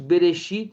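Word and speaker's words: בְּרֵאשִׁית: Pronuncia isso. Berexit barat Eloim, que no princípio criou Deus, né?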